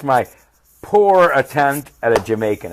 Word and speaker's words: Jamaica: okay Jamaica I look I want to look at this one because of pronunciation no yeah no ha mikage Jamaica someone from Jamaica Bob